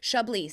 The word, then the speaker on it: Chablis: And Shabli, if you've never tried it, next time you see it on a menu and you go, "Oh, that's Shabliss." It is Shabiss. It's pronounced Shabli.